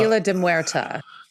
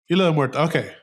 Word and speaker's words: Isla de Muerta: for later on, but it does go to Isla de Muerte, or de Muerta, how they said it. I forget how they say it weird. They call it the Isla de Muerta. Isla de Muerta. Okay. Mm-hmm. So, yeah, they do use the female version of that.